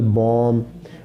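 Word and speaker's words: bomb: अच्छा, लैम लफ्ज़, हर वो लफ्ज़ जो बी पे ख़त्म हो और उससे पहले एम हो, वो जो बी है वो साइलेंट होगा। For example lamb, for example Tom, for example बॉम, इन सब के एंड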